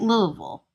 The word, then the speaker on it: Louisville: And that's how you say it, Louisville. I don't care what anybody says, it's Louisville.